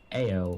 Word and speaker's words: Ao: The head god for Faerun is Ao or Owl, depending on how you want to pronounce him.